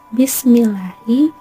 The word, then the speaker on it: Bismillahi: Bismillahi itu hukumnya tarqiq, karena ada lam jalalah didahului kasroh. Cara membacanya lafal Allah dibaca tipis, panjangnya 2 harokat.